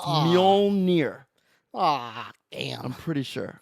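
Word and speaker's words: Mjölnir: Spell it. Mjonar, Mjolnir. You forgot the L. There's an L in it? Mjolnir, I think. It's Ah. Mjolnir.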